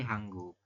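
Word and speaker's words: 한국: Kak gitu kemudian ini hangguk ya ini kan tulisannya hanguk tapi dibacanya nanti hangguk nah Anda silakan lanjutkan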